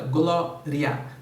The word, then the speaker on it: glória: ditongo né olha aí caso da palavra glória duas sílabas não é de não três tá ela é paroxítona a sílaba tônica é a penúltima é a segunda de trás para frente e acentuada por terminar com este tom tá álbum terminando